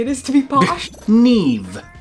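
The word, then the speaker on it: Niamh: is to be polished neve i think we're saying that right oh yeah i was pronouncing this neem but apparently oh i was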